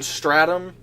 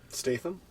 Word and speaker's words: Statham: Stratham, the guy from Transporter. Statham? Yeah, that. Stratum. I can never pronounce it.